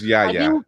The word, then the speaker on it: Yahya: And just pull it up and I can probably pronounce it. It's Yahya. I know it's Yahya.